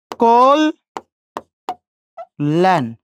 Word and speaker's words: কল্যাণ: কল্যাণ, খেয়াল করে দেখেন, কয়কারে? কো। কেন কত উকার দিলাম? এই যে জফলা আছে, এর আগের অ আছে, অটা কি হয়ে গেল? ও হয়ে গেল। কল ল্যান, মূর্ধন্য থাকলে কি হবে?